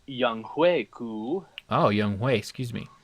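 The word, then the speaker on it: Younghoe Koo: Kickers, let's take a look at Young Ho Koo and Harrison Butker. Actually, it is pronounced Young Hui Ku.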